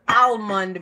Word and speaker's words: almond: The L is silent, not just you. Thank you, Emil. Amelie. Thank you very much. The L is silent. Nobody says almond milk.